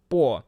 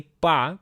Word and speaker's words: по: So just technically, yes, the stress should be on O, so that's why it should be pronounced as po. But in fact is a lot of Russians gonna say pa because like it will be kind of united for next word just in the speech terms.